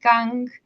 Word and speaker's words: Kiang: Yeah, so in Chinese it would be Jiang, but in Taiwan it's actually a little bit different. It's more like gang. So the K uh, sound and then the G sound.